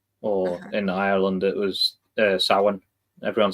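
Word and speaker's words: Samhain: The MH in the middle is like a W.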